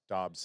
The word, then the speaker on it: Dobbs: Is it Daubs or Dubs? Dobbs.